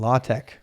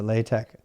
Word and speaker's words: LaTeX: you're doing that you're writing it in latex or latex both pronunciations are fair apparently uh do